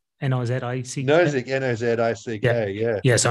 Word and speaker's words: Nozick: How do you pronounce his name? Is it Nozick? N-O-Z-I-C-K.